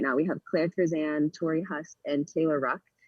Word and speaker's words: Curzan: And you even have teammates now at Stanford who have swam in the Olympics, like Claire Curzon, I think how do you pronounce her name? Sorry. Yes, Claire Curzan.